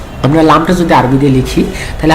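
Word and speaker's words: لام: এই জন্য লাম অক্ষরের নাম আমরা যখন উচ্চারণ করব, তখন আমাদেরকে 4 আলিফ টেনে উচ্চারণ করতে হবে, লাম।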